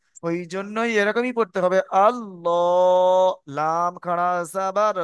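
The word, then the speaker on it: الله: একটু ভালো করে পড়েন আল্লাহু আমার মই লটা কেমন দেখেছেন মুখ মানে মুখটা গোল করে আল্লাহ আল্লাহুস সামাদ আল্লাহ মাশাল্লাহ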